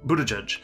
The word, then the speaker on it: Buttigieg: the one that has the really hard to pronounce name that everyone talks about his name is pi pi e pi tour buddha judge we're gonna talk about this guy so mayor